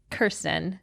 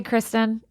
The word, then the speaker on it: Kirsten: I had Kirsten. Or did I say Kristen? No, you said Kirsten. You said it right.